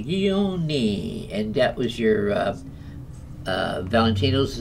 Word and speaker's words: Guglielmi: Pronounce that last name again. I like it. Guglielmi. Guglielmi.